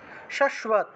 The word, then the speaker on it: শাশ্বত: আচ্ছা, এই যে শাশ্বত, তালবস্য নিচে বফলা থাকায় শুভ উচ্চারণ, তাহলে কৃষ্ণেনা, কৃষ্ণা, কৃষ্ণা,